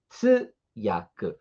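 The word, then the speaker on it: 通訳: Tem um u aí, tá? Tsuyaku. Tsuyaku. Alonga o som desse tsu. Tsuyaku. Não é tsuyaku. Nós não temos aí essa pronúncia usando o som de dois silabários. Tsu. É um só.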